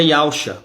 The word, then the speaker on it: Yausha: E o nome do Messias é Yausha, porque termina com Shá, certo?